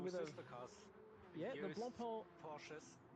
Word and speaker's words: Blancpain: Nah, it's Blancpain. It's Blancpain. We're going with Blancpain. No. Blancpain. That sounds French.